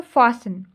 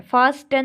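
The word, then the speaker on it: fasten: इसमें T silent है, फास्टन नहीं बोलते हम, फासन बोलते हैं, ठीक है, टी इसमें क्या है, साइलेंट है। नेक्स्ट है बच्चों नॉक, KNOCK, नॉक, तो इसमें के क्या है, साइलेंट है।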